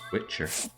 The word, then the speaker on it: Wicher: be saying goodbye Witcher there was not a tea okay but the tea and Witcher is silent so uh Witcher and I don't do